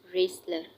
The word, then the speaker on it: wrestler: Pehlwan, wrestler. Wrestler. W is silent here.